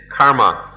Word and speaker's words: karma: But if we understand karma, kama, karma is the Sanskrit pronunciation, kama, the Pali pronunciation.